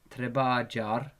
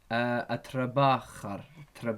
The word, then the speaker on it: trabajar: The verb trabajar, the verb trabajar is pronounced like this. Don't pronounce it like that. That's not what it is. The jim equals the kha in this word.